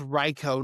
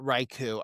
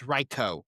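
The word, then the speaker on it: Raikou: It's pronounced Reicho, not Raichu. I've I pronounced this Pokemon's name wrong. My well, not my whole life. Hasn't been around, but since it's existed, it's Reicho.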